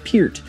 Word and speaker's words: Peart: lot to do with Neil Peart or Pete however you're supposed to say his name now I've always said pert and then a couple years ago somebody's actually it's Pete but whatever he has